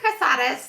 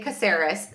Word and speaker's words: Casaris: Do you pronounce it Casaris? How do you pronounce your last name? It should be Casadus like from a background standpoint, but in my husband's family, they say Caseris.